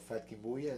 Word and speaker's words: FatKingBulla: because the love uh to the music of fat Kim buya is that how you say it that's right